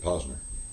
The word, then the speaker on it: Posner: Everybody's pronouncing it Posner. Well, he pronounces it Posner.